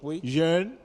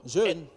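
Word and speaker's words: rén: Donc, bon, nous avons au milieu ici, jeune, qui veut dire... jeune? Oui. C'est où jeune? R-E-N. D'accord, on lit ça comment? Jeune. Jeune. On ne prononce pas le R.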